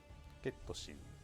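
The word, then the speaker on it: ケット・シー: How do you pronounce this character's name? ゲットシー。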